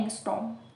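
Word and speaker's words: ångström: आर जो है वो साइलेंट रहता है यहाँ पे, तो हम उसको बोलते हैं एंगस्ट्रॉम।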